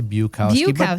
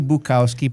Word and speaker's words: Bukowski: Yeah, you've been calling me Bowski. Buowski. Bukowski.